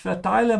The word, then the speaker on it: verteile: Ich verteile meine Stuhlexemplare immer wieder gerne. The verb here is verteilen. And it means to hand out. Remember that in German, the V is pronounced like an F, ja?